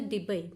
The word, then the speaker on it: Debye: जैसे कुछ प्रोनाउंसिएशन में डेबी भी कह देते हैं. So that is द डेबे unit, वो इन्हीं के नाम पे है.